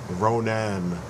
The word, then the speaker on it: Ronan: of the comic Geeks like to mispronounce what you can clearly read is ronin you know Ronan but Ronin the accuser